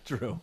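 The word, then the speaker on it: Jrue: Drew. Yeah, Drew. J-R-U-E. I love that spelling, by the way. Yeah, pronounced Drew.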